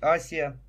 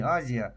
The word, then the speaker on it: Азия: африке по всей азии правильно говорить асия вот на по-моему на различных картах до сих пор на некоторых сохранена истинное название не азия оси вот так же вся